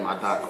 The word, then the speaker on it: Adaku: Adaku, I think that's the pronunciation of your name, Adaku. Adaku.